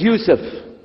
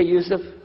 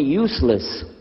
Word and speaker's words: Youssef: My name is Youssef. Can you say Youssef? You say Youssef. Yeah, very good. I wish you'd teach my wife. She keeps mispronouncing it. She calls me useless.